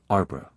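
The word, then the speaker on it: arbre: pronounced um and in the same way he was taught to pronounce ape sing and tree arbra he was a most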